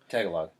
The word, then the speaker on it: Tagalog: they mentioned usually they have the however you pronounce it tagalo tal tagalo Tagalog yeah The Interpreter cuz that one guy that